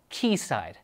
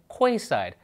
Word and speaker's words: Quayside: The development Sidewalk Labs is working on is pronounced Keyside. I said Quayside, so I'm a dummy.